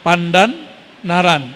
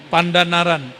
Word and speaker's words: Pandanaran: Santri Quran tamatan Sunan Pandan Naran. Begitu bacanya Kiai. Benar, sahih. Pandanaran.